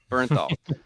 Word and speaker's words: Bernthal: Michel like I Andy how's it how's it pronounced again John Burnal Bernthal so John ber all